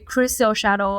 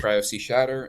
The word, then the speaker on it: cryosea_shatter: So those are basically Crystal Shadow and Moonlight Cascade, right? Did I pronounce it correctly? Yeah, Cryo Sea Shatter and Moonlit Cascade.